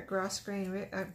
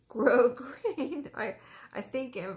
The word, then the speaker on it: grosgrain: for closure too, but these are grosse grain, grosse grain. Grosgrain. Sometimes I think in spelling. You know how you spell something and you learn how to talk phonetically? Sometimes I think of the spelling and say the word wrong, apparently, like I just did.